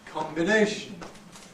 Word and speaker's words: combination: we have combine and combination and again you can see that the prefix is come when is unstressed combine but strong Cal when it's stressed in this case by